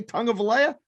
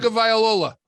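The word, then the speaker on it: Tagovailoa: You can't say Tongue of Alea? It's unbelievable. Tongue of Viola. There you go.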